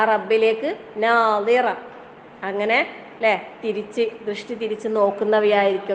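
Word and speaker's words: ناضرة: മറ്റേ നദറ അല്ലേ, ദ്വാദ് അത് രണ്ടിൻ്റെയും ഉച്ചാരണം സ്വാദിന്റെ ദ്വാദ് പറയുമ്പോൾ നമ്മള് നാവിന്റെ സൈഡ് ഭാഗം അണൽപ്പല്ലിന് ടച്ച് ചെയ്യുന്ന രീതിയിലാണ് വരേണ്ടത്.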